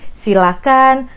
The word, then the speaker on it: silakan: kan kita bedah dulu Ini dari pronunciation-nya jangan pakai h itu yang paling penting Jadi silakan persilahkan jangan pakai h itu dari pronunciation-nya Nah kalau dari katanya